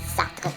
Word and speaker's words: Sartre: Já para Jean-Paul Sartre, Gostou da pronúncia, né? Sartre.